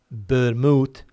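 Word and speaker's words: vermú: here with the V the pronunciation in Spain is uh with a B ermot it is quite popular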